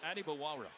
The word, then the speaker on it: Adebawara: We got a pronunciation change on that, by the way, just before the game. So I know how it used to be said by everyone, but PJ said, actually, how you say my name is Adebawara.